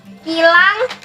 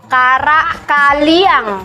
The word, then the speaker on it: Kaliang: namanya Karak kilang Salah, bacanya gini. Kaliang. kaliang. Ya.